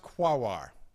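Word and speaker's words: Quaoar: quar Sedna and orcas okay yes it is pronounced guar okay now you'll notice I have left out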